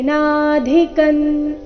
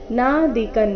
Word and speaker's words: ನಾಧಿಕಂ: ಮನ್ಯತೆ ತೆ ದೀರ್ಘ ಮನ್ಯತೆ ನಾದಿಕನ್ ಇಲ್ಲಿ ಧಿ ಮಹಾಪ್ರಾಣ ರಸ್ವ ನಾ ದಿಕನ್ ಬೇಡ ನಾದಿಕನ್ ತತಃ ಬರ್ಬೇಕು ಯಸ್ಮಿನ್ ಸ್ಥಿತೋನ ದುಃಖೇನ ಯಸ್ಮಿನ್